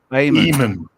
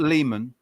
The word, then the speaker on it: Eamon: So Eamon. E-E-M-A-N, I think. L. Eamon. Yeah. Not Lehman.